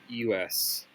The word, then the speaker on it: Prixus: I thought, I got this, but it's Prixus. Pricus. I'm gonna call him Pricus.